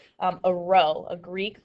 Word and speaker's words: rho: p, but it's italicized there, so it's a rho, a Greek letter rho, R-H-O is how we spell that.